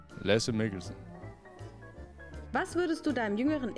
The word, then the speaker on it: Lasse Mikkelsen: Wie wird dein Name richtig ausgesprochen? Lasse Mikkelsen.